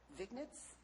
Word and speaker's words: vignettes: He continues researching and writing vignettes, V-I-G, how do you say that?